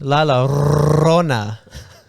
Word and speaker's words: La Llorona: Llorona. Or Yeah. That one, or the chupacabra. It's outside. pronounced La Llorona.